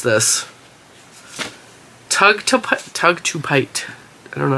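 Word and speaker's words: tugtupite: Okay, how do you pronounce it though, Google? Let's see. There we go. Tug to Pite.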